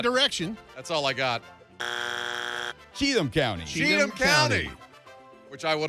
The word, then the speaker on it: Cheatham: all the same direction that's all i got cheatham county cheatham county which i would have probably called chatham at a different time in my life all